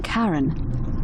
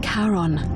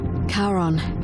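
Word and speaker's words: Charon: is a little off the name you heard wasn't karen it was c-h-a-r-o-n as in caron the ferryman of the dead yeah karon who in exchange for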